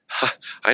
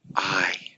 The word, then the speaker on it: ai: things and you didn't do those things yourself I know there was a time when I was